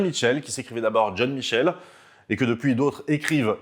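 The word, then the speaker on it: John Michell: avec révérend john michel vous noterez que j'ai dit michel est pas mitchell parce qu ils pas de thé dans son nom même si quand on le prononce à l'anglais zone redire mitchell je dirais peut-être aussi mitchell en tout cas ce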